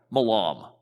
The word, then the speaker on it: Milam: is married to John remember Milam or Milam I don't know how to pronounce his last name well I need to pick away malam there it is that's how it's pronounced now and then Carolyn's